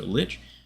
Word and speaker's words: lich: monk glitch lich lick i pronounced it lick last time and it felt weird so lich uh off yang nijing